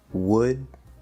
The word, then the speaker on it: would: And don't forget would, could, should. These are not L-colored, the L is just spelling.